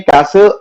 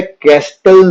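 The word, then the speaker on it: castle: कुछ टेस्ट हैं जिसमें कैसल एज अ आंसर बनता है। बोलने का इसका वर्ड का साउंड जो है कैस्टल नहीं बोलते, जिसकी वजह से बहुत सारे स्टूडेंट्स इसके स्पेलिंग में मिस्टेक कर देते हैं।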